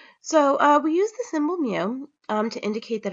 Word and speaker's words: mu: For the population mean, we have the symbol mu, kind of like a cat sound, mu, mu.